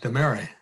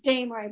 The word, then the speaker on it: Damery: Davina Demary. You can correct my pronunciation, Davina. That's okay, Governor. It's Damery, but that's not a problem. I'm used to it being mispronounced.